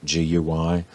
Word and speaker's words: Guy: And this was, it's spelled Guy, G-U-Y, but since he was French, it was pronounced Guy.